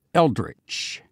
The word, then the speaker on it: eldritch: of the day this time it's a word pronounced eldritch spelled eld RI t CH and then the